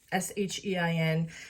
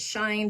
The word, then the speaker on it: SHEIN: sheehan haul it's actually s-h-e-i-n some people pronounce it shine but it's actually shein so without further ado